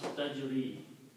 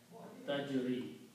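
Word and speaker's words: تجري: So its pronunciation changes and it becomes tajri. Dhamma is not pronounced, tajri.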